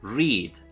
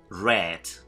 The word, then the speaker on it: read: El verbo leer no cambia su forma, pero sí cambia la manera de pronunciar, ¿de acuerdo? Read, leo, read, como el color rojo, ¿no? Read, leí, ¿de acuerdo?